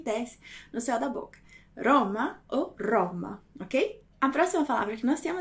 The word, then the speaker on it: Roma: Roma. Então, alguns italianos vão pronunciar Roma, ok? Roma, com uma vibração menor. E você vai poder encontrar também italianos que vão falar Roma, Roma, ok?